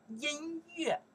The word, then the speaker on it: 音乐: You say, that's, I think they pronounce the yue. How you know that? Very smart. We learned the yue from the music, right? We say, 音乐.